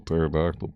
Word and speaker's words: pterodactyl: No P is silent. They say a pterodactyl.